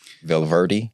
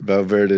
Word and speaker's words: Valverde: Valverde? Yes, that's fine. Unless you're really good at rolling the R's, you can say Valverde.